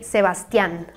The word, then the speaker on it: Sebastián: In Mexico, we would say Sebastián. Again, like the A has this tilde thing, so you make an emphasis in the last syllable, Sebastián.